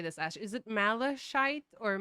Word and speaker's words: malachite: Is it malachite or malachite? Malachite. Okay, malachite, kingfisher. I always wonder how to pronounce Well, that.